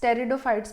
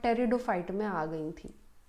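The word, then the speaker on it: Pteridophytes: आती है that is टेरिडोफाइट्स टेरिडोफाइट्स P silent होता है तो टेरिडोफाइट्स पढ़ते हैं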